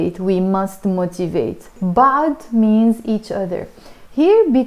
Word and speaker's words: بعض: So make sure to pronounce it like in a strong way, بعض, rather than بعض.